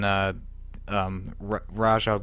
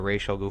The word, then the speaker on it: Ra's al Ghul: Robin, and the Joker murders him, and then Raj Al Ghul or Ra's al Ghul, however you want to pronounce it, brings him back to life, and he turns up being the Red Hood.